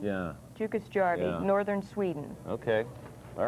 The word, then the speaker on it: Jukkasjärvi: This is in, pronounce that. Jukkasjärvi? Yeah. Jukkasjärvi, Yeah.